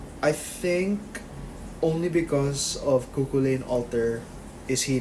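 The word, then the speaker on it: Cú Chulainn: Because he doesn't have survivability like Kukulane. Or Kuhulan. Apparently that's how you pronounce it.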